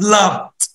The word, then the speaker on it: loved: Love, loved. Love, loved. Walk, walked. Walk, walk. بص ركز معايا كده في النطق، هنا loved بالدي، هنا walked بالتي في النطق.